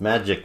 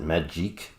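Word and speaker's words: Magik: many years I did not know how to pronounce her name it's magic with a k' instead of a c and i would pronounce it Madge eek I'm not sure why and even her her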